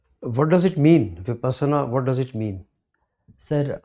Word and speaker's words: Vipassana: Correct pronunciation. Sir, Vipassana.